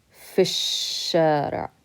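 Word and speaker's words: في الشارع: over this Elif and we can't pronounce the lamb because it's a son letter so we skip over and we say fish shut up okay in the street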